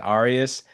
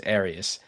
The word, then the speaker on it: Arias: And I have to say, I mispronounced your last name earlier. I called I said Arias. So, I wasn't sure if it was So, now I know it's Arias.